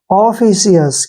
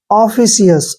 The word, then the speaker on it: officious: इसको पढ़ेंगे, ओ का उच्चारण हम क्या करते हैं, ओ, ऐसे। डबल एफ को क्या लिखना, फ। आई का उच्चारण क्या हो जाएगा, छोटी की मात्रा, ओफी, हो गया ना, ओफी। और बाद में क्या आएगा, CS, ऐसे।